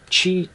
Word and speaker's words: Qi: But the cool thing with the charger is it's a Qi charger. Is it how you pronounce it?